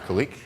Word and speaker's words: Khaliq: third-party services as Jeremy said my name is kalique and I work for a vector Media Group so my name is pronounced and that actually means creative I